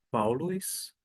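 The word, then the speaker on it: Παῦλος: grego eu vou sempre destacar a palavra você pronuncia Paulo Paulos Observe que termina em o s todavia no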